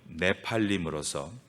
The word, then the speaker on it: 네피림: 네피림, 히브리 발음 네팔림으로서 떨어지다라는 뜻의 나팔에서 파생된 단어입니다.